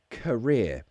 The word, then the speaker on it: career: you pronounce career yes career it's a schwa at the beginning rear career career what's your career a vesta career yes so it's not M career career it's a schwa sound you have to make